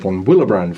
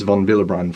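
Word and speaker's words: von Willebrand: is a particular protein is called Von vbr factor and that's probably the last time that I'm going to pronounce it correctly because from this point on I'm probably going to call it Von willbrand Factor but technically it's Von vbr factor with a so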